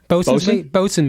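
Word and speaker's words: boatswain: Or how do you say a boat? Bosun mate. Bosun's mates.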